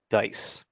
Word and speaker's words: DCISE: collaborative information sharing environment we pronounce that dice dcise uh dice is